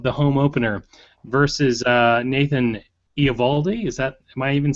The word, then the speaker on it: Eovaldi: JP, but Eovaldi. The O is silent.